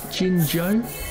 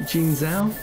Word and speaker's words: Jingzhou: More specifically, I'm in a place called Jingzhou. I used to pronounce it Jingzhou, which was incorrect.